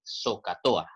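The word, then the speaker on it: SOH CAH TOA: técnica llamada soca tohá yo quiero que se aprendan esta palabra así como se pronuncia recordemos acá que la h pues no se pronuncia verdad la palabra se traduce así zocato a se pronuncia de esa manera y porque es importante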